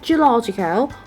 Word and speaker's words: geological: In the word geological, we have a primary stress at the third syllable, which means the third syllable, it receives the strongest stress. So you can notice when I pronounce the word geological. Right. However, it seems that the first syllable, it still gets a little bit stressed, but not that much if we compare to the third one.